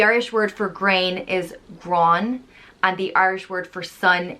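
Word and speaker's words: Gráinne: are so um everyone's right next up is grana which is a very well-known old irish historical name it's pronounced gro yeah grana and it's traditionally spelled g-r-a-thota i-n-n-e and the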